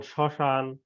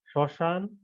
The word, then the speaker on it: শ্মশান: অনুশীলন করবে প্রথমে দেখো ক নম্বরে পদের প্রথমে ম ফলা থাকলে সে বর্ণের উচ্চারণে কিছুটা পড়ে এবং সামান্য নাসিক্য স্বর হয় যেমন শ্মশান স্মরণ এখানে দেখো শব্দ দুইটার পাশে উচ্চারণগুলো তোমাদের দেয়া হয়েছে শ্মশান আর স্মরণ এই উচ্চারণ